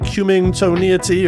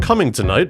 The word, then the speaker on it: cummingtonite: I assumed it had to be pronounced something like Cummingtoniety or, well, anything other than Cummingtonite, but... Cummingtonite. Nope, that's how you say it.